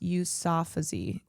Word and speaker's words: Yousafzai: I have never seen, it's pronounced Yousafzai.